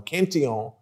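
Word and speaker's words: Cantillon: back at least to richard cantelon or kention for the french pronunciation who authored the first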